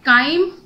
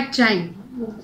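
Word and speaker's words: chyme: उसे हम बोलते हैं काइम या चाइम। अलग अलग बुक्स में दे रखा है, CH को हम दोनों तरह से प्रोनाउंस कर सकते हैं, काइम भी और चाइम भी, ठीक है।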